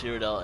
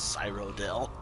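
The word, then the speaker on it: Cyrodiil: Also, I'm very budged whenever someone pronounce Siridel as Cyrodell. That's not how it's pronounced. You even hear people in this game and in Sir Oblivion pronounce it as Sirido. Sir, not Cyro.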